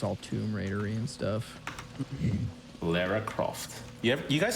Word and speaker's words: Lara: any of the movies yeah it's lara yeah my entire life is a lie okay that's great gotta find that out now that i've been pronouncing that wrong for like a decade i think it's because